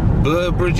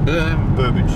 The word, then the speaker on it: Burbage: We're going to Burbage, is it? Burbage. Burbage. I think of Babbage, like the Babbage engine.